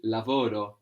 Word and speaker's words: lavoro: today good Oh G lavoro lavoro at G and it's important not to have the accent on the ending if you were to say lavoro this would mean he or she worked in the past and